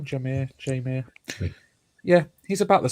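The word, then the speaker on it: Jahmyr: God yeah damn it just interesting as well jir Gibbs is that how he say his name jir jir yeah he's about the same size as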